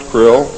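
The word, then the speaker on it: Krlll: name and title was his omnipotence - krill pronounced krill spelled kr LLL RC RL ll in the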